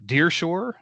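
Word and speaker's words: Der Pschorr: it was a place called uh Deershore but it's spelled D E R P S C H O R R and if you've ever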